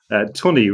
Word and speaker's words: Tunney: Tunney rhymes with money, funny.